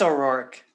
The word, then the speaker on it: O'Rourke: you say her last name i think it's o'rourke is it a roark yep okay so she